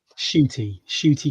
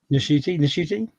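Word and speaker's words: Ncuti: Shooty Gatwa. I saw a thing where he said that he didn't realise that you do say the N, and then Shooty. So Nashuti.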